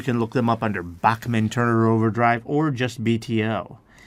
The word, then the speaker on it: Bachman: Also, the K sound there is not with a CK. It's with a CH. So it is a little hard to spell. So that is spelled Bachman. So there's only one N there.